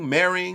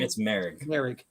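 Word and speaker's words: Moehrig: What Merring? It's Merrick.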